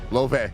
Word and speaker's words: Laufey: Loufey. Loufey. Loufey. Like the singer.